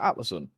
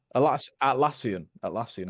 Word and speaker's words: Atlassian: Is it Atlison? Atlassian, isn't it?